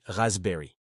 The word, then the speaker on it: raspberry: La framboise c'est raspberry. Notez bien que le P ne se prononce pas. On dit raspberry et la mytille c'est blueberry.